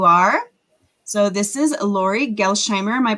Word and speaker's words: Gelsheimer: So this is Lorie Gelsheimer. Am I pronouncing that correctly? Gelsheimer, but that's close enough.